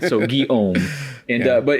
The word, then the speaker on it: Guillaume: Guillaume. Okay. So the way I say it is the Guy part, and then Om.